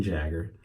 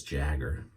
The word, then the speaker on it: Jagger: of them in one of the vendors edwin jagger i usually said Jaeger but it's Jagger that's the way I've seen everybody pronounce it and Jagger was there actually Gail